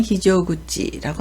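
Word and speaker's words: 非常口: 비상이라고 읽을 때는 히조라고 하죠. 비상 또는 대단함을 나타내는데 비상구를 나타낼 때는 히조구치라고 합니다.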